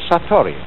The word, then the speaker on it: Satori: In Japanese, in Zen, it is called Satori.